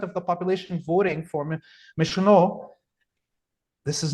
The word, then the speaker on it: Mélenchon: rights with the leftist party, what's his name, Michelon, or how do you say his name? Mélenchon.